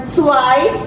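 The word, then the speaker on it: zwei: Ai jadi Ain kemudian suai ingat-ingat Z tidak dibaca Z tapi dibaca seperti agak c caiai kemudianai jadi u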